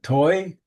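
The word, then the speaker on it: טוי: Toy? Dew. Dew was falling. Oh, and how do you pronounce it? Toy? No, Toy? just toy.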